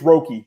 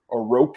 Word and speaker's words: Roque: It's Roque, if I'm not mistaken. I'm pretty sure it is, because John interviewed him and he called him Roque, and commentators called him that.